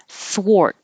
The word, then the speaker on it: thwart: in up subtle subtle thwart this doesn't look like an or but it sounds like an or so the thw is a unusual combination we don't see it very often but you don't round your lips for the th but you do round them for the W so start unrounded four and then round four and hold your t sword sword and wrist